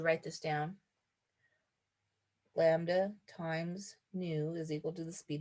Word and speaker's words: nu: lambda times its speed nu looks like a v but remember that is new is going to be